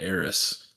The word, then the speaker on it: Aerith: Aerith is in your party, and then her name is Aerith and not Eris. So it's pretty interesting that the game actually had both pronunciations in the code.